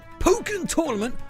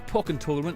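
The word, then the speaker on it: Pokkén Tournament: Pokken Tournament, or Pokken Tournament as I've been told the right way to pronounce it, came out last month with many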